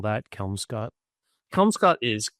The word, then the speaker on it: Kelmscott: Uh, you know originally was this like early printing press or this was I don't know the Kelm Scott Chaucer is Oh, let me see if it says on here.